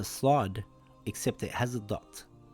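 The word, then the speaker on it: صاد: The closest letter would be the letter S in English, and similar to the letter seen, but it is pronounced with a heavy sound, slod.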